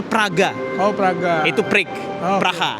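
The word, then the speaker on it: Прага: Yang ada A ee tulisannya mungkin sedikit kayak huruf N, P, A terus ada R, ada A. Itu bacanya Praga.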